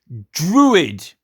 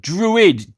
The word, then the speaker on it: druid: the irish and scottish they say druid that's how you say it druid d-r-u-i-d druid right i mean when